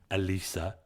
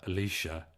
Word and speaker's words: Elisa: Her name is spelled Alisa, Elisa. Well, thank you very much. Like to call her Alicia, and that's where she gets a bit angry, and I can understand that.